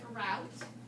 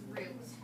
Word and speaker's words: route: Remember this word, you will hear people call it route, but the actual pronunciation of that one is root.